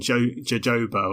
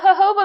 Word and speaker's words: jojoba: But jojoba makes a little bit of sense because it's a Mexican plant. And in Mexico, J is said with an H sound.